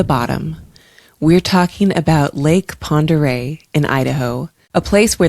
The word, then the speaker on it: Pend Oreille: And I think I said that right. Lake Pere. Uh, yes, I did look up how to pronounce it. And And I'm glad I did cuz otherwise I was going to be like Lake Pandorael. So that's what I was going to call it.